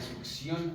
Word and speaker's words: succión: es un sistema de succión al vacío se dice succión no se dice succión no es con p se dice succión con c sí o no Bueno